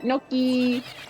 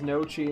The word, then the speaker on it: Noki: Because with Noki, you just get Noki, Nokalini, Nokalina, Nochi. That's the meanest it gets, is you say her name incorrectly. As Nochi instead of Noki.